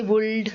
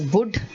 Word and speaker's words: would: us make not all we say would we say shuld but it is wood it is should kaff half salmon salmon